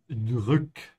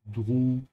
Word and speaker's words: drück: Make sure to stretch your tongue forward for the ü. Yeah, drück and not dru. Drück.